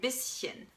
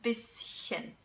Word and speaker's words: bisschen: When the S is in one syllable and the CH is in another syllable, then you don't say sh, but you actually say sh. For example, in ein bisschen, ein bisschen. So it's bisschen, bisschen, okay?